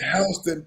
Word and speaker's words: Houston: like it was in Alabama in Georgia it's pronounced hon County in Alabama it is a much smaller